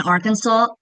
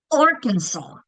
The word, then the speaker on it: Arkansas: Arkansas. Arkansas is a hard one, right? That first syllable is getting the accent.